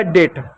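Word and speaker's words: date: अब ये इ जो है हमेशा शब्द के अंत में मैथ हमेशा साइलेंट होता है। इ को नहीं लिखते हैं। इ को नहीं पढ़ते। तो ई को नहीं लिखेंगे तो आपका हो गया डेट।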